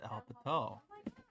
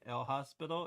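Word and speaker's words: L'Hôpital: if when they say l hospital it's like american but uh but this is actually french and i learned this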